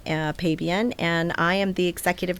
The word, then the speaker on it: Pabian: Pabian. But the other pronunciation is Pabian. Pabian. Yeah. It's a Polish. My husband is 100% Polish. I think he's third generation. But yeah, it's Pabian. Pabian. But Pabian is perfectly fine.